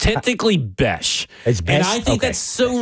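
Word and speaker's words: Bech: pronounced because it's technically Bes. And I think that's so ridiculous. And I get that there's an H in there, but it really screams like it should say Beck because I called him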